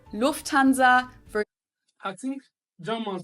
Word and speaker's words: Lufthansa: In English, people usually say Lufthansa, but in German, we say Lufthansa. So the emphasis is on the first syllable, Lufthansa.